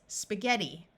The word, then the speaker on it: spaghetti: a few words where GH has a hard G sound of G in this word the I is going to take on a long e sound so this word is spaghetti now i' would like